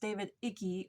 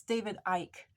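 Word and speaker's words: David Icke: I found out that it's not pronounced David icky or eki or even Ian it's David Ike at least according to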